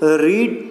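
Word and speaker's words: read: लेकिन यहाँ पे जो है पुट, पुट, पुट, रीड, रेड, रेड, यहाँ पे रीड, रेड, इसको सिर्फ प्रोनाउंसिएशन चेंज होती है, स्पेलिंग इसकी भी सेम रहती है, लेकिन रीड, रीड, रीड नहीं पढ़ते हम, इसको रीड, रेड एंड रेड पढ़ते हैं सेकंड और थर्ड फॉर्म में।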